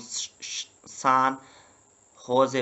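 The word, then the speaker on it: San José: 20 41 पे कोस्ट स्टाका इसका कैपिटल है सान होजे ये जे को एच पढ़ते हैं स्पेनिश लैंग्वेज में ठीक है ना सो इसको हम सान होजे पढ़ते हैं ठीक है ना नेक्स्ट है कोटे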